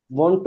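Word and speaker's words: Wundt: वोंट वोंट, यानी इसको आपने वंट। डी को जो है ना वो स्किप कर देना है।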